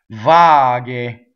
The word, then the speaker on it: vaghe: be J right g GH e is gay Varg a same Beyonce so the